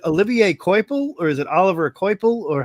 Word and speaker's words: Olivier Coipel: It's Oliver Coipel. Olivier Coipel? Yes.